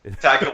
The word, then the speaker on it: Taika: It's definitely not Taiki Yeah. Waititi. Taika Waititi.